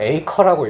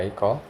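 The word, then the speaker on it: acre: 에클이 이러면 안 돼요. 이거 에이커라고 있습니다. 에이커. 자. 에이커는 토지 측량 단위거든요. 헥타르는 많이 들어봤죠. 1타르. 이제 토지 측량 단위인데 요거보다 되게 작은 단위에요. 그거보다는 훨씬 작은 단위입니다. 에이커라고 읽고요.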